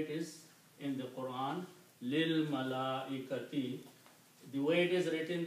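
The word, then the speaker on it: لِلْمَلَائِكَةِ: Also, when you recite these together, we don't pronounce this alif. We combine this lam with this lam, and it sounds lil. Lil malaikati.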